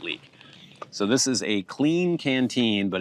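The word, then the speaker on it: Klean Kanteen: So, this is a clean canteen, but it's spelled annoyingly K L E A N K A N T E N. Clean canteen.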